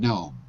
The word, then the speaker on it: gnome: the pointy hat so the g is silent in both of those words foreign and gnome let's go to mr